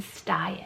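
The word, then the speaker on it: Stian: And those are the names Emin and Styan. So Emin is spelled E-M-I-N, and then Styan is spelled S-T-I-A-N.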